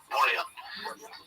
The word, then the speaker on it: Bouillon: It's with two L's in English, but I think in French it's Bouillon. I think you swallow the L's. Bouillon.